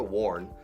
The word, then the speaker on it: warn: Warn, como el pasado del verbo to wear, suena igual, pero con A, warn, se pronuncia warn, es advertido en peligro.